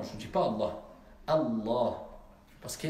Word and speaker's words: Allah: Est-ce qu'on dit Allah ou Allah? Allah, il y a une shidda.